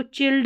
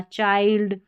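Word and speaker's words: child: ऐसे नहीं हो रहा, दोनों का एक ही उच्चारण है, च, बस एक ही। तो चेयर हो गया। फिर यहाँ पर देखिए इसको चिल्ड नहीं पढ़ना, चाइल्ड, और इसको चीज़।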